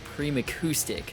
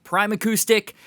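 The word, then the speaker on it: Primacoustic: basement and he recommended prim acoustic hunter from the future here in editing it's totally pronounced prime acoustic we move back to the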